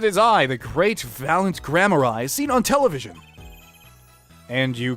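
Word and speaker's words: Gramarye: grand magician okay so apparently Graham RI is pronounced grammar I first of all and it's a word of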